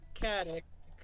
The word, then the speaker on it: Caddick: Yeah, everyone knows me as either or Caddick. That's how you pronounce that.